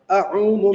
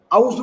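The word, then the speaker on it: أعوذ: पहले हमने ये देखना है कि औज़ु बिल्लाह नहीं है, जी मैं इसकी हिज्जे कर रहा हूँ। हमजा ज़बर आ, आइन, वाव पेश उ, अऊ, ज़ाल पेश ज़ु, अऊज़ु।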